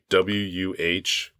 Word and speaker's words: Worcester: Phonetically, it's WUH-stir. Yeah. So yeah, I had to look that up because I know that that's something of a sticking point for some people where they're like, yeah, they never pronounce that right.